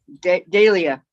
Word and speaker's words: Dahlia: miss shorts back again dahlia she had to spell it out for me so i knew that it's not delia it's dahlia so do you guys